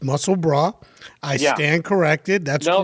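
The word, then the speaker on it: Musselburgh: of mussel broth so i mispronounced it earlier it's not musselburg it's muscle bra i stand corrected that's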